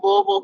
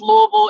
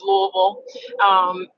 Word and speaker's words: Louisville: I am originally from Louisville, Kentucky, and yes, it's pronounced Louisville. It's not Louisville, Louisville. It's Louisville.